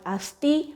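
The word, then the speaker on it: asthi: Then asti, A-S-T-H-I, asti, which called bone.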